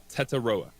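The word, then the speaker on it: Tetairoa: say his first name it's te T AI r o a Teta is that other pronunciation chart says Teta all right so Teto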